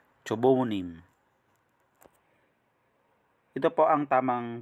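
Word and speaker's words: 조부모님: Cho, bu, mu, nim. Cho, bu, mu, nim. Ito po ang tamang pronunciation.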